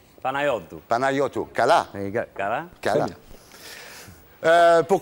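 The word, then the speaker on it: Panayiotou: Ça ne poserait pas de problème, mais il faudrait que tout le monde apprenne à prononcer le nom correctement. Yorgos Kyriakos Panayitou. Panayotou.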